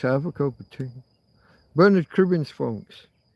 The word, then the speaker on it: Bernard: Bernard Kribons, folks. Bernard, if you're of an American's persuasion, Bernard. It's an It's spelled just like your one but pronounced different.